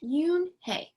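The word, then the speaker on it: Unhei: joey she nodded slowly yes it's pronounced yoon hey and it means grace mr kim added yoone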